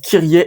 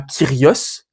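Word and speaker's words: Κύριε: messe vous dites kiet pourquoi vous dites kiet et pas kios ça vient de curios en fait parce que le yilon s'est prononcé i un peu plus tardivement c'est le yotisme c'estd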